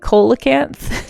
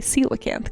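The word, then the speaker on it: coelacanth: Um, see, I always when I didn't hear this word pronounced, I always pronounced it colacanth. Did anyone Surely I'm not the only one, right? A lot of people probably did that. Uh, colacanth. Um, there we go. But it's actually celacanth, guys.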